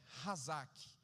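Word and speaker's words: חזק: Lá no Antigo Testamento, essa palavra perseverança, ela a pronúncia é hazak.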